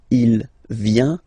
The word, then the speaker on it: vient: Final T not pronounced. Il vient, elle vient.